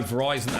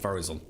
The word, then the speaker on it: Verizon: Oh, Verizon, as in rhyming with Horizon. Oh, not Verizon.